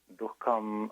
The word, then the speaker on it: dukkha: But there's another component called dukkha, right, which is suffering.